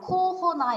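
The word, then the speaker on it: corona: 코로나를 뭐 프랑스 발음으로 읽으면 그냥 코호나 이렇게 하는데 저 코로나라고 많이 안 하고 그냥 코비드라고 하는 것 같습니다.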